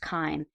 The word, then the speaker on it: CHIME: It's pronounced Chyme.